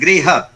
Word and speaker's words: गृह: तो जब हम बोलेंगे तो हमारा बिल्कुल स्पष्ट उच्चारण होना चाहिए ग्रह। तो ग्रह के मतलब ये है कि हम प्लेनेट की बात कर रहे हैं, और गृह की अगर हम बात करें गृह, तो हम बात कर रहे हैं घर की, होम।